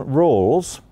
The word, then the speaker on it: Rawls: American philosopher called John Rawls i'll spell that for you because it sounds like rules but it's our a wls you all know him